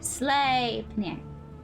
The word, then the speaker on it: Sleipnir: Sleipnir.